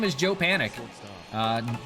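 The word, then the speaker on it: Panik: his name is Joe Panic uh Joe no time to panic uh but it's spelled with a k p a n i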